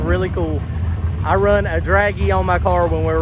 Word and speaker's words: Dragy: to do something really cool i run a draggy on my car when we're running no prep